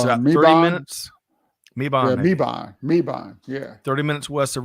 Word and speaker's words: Mebane: So D says that it's pronounced with a short A, Maban. And it's about 30 minutes. Mebane.